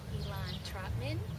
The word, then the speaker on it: Elan Trotman: got detroit's lynn roundtree how are you and elon trotman did i pronounce that right you got it right yes